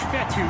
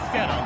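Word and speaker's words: Fetu: a nice run so coach fatty spelled f-e-t-u for the longest time i was pronouncing it coach fedon like as we pick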